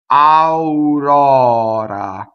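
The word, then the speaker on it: aurora: Okay, aurɔra. So the stressed O in this word, the stress is on rora, is open.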